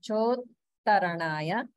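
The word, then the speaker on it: चोत्तरणाय: Nama Pratarnaya Chottarnaya Chotta, we have holding after dirgha, and sometimes it's easy to miss this holding because it's the same sound. It's ta coming twice in one syllable, so sometimes we forget to hold there, but we definitely want to remember that. So it's chotaranaya, chotaranaya.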